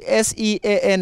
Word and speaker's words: Sean: perform for today singing why is it s-e-a-n and being spelter is being being pronounced sean because my mom wanted